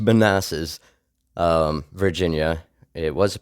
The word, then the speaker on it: Manassas: that's what we had here in men it's pronounced Manasses um Virginia it was a prospect series and